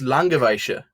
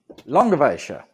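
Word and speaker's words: Langewiesche: I do know how to pronounce it. It's Langeweische. Langeweische. Okay. Langeweische.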